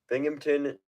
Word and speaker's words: Binghamton: Beaverton, Binghamton, New York. It's spelt like it sounds.